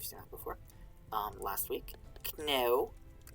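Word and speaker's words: cneo: Kneu, C-N-E-O. Sometimes it's C-N-E-O-W. Just depends on the scribe and how they want to spell it. Kneu. Slight different pronunciation, but it's close enough that if you're going fast, you won't really notice the difference a lot of the time. But kneu is me. That's why there's a K in the word me,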